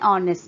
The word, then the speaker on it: honest: Similarly, an honest man, H is silent there.